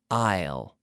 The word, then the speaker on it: aisle: them all we say Isle Isle just like the contraction of I will Isle Isle so this